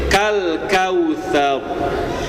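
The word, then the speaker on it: كَالْكَوْثَرَ: boleh manyun jadi baud kal kautsar. Bapak lihat huruf sebelumnya huruf apa, Pak? Huruf tsa. Huruf tsa itu huruf tipis. Huruf tipis itu huruf senyum.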